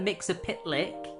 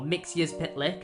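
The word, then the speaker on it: Mxyzptlk: In order to find those earths, he has kidnapped Mix Mr. Mix a Pitlick or Mixius Pitlick is how you pronounce it and is torturing him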